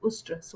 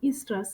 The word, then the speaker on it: oestrus: talking of synchronization of ustras or estrus it's up to you how you pronounce it this is when